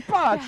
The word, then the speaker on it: pace: We'll say pace. Pace. Right? That's how you say it in Italian.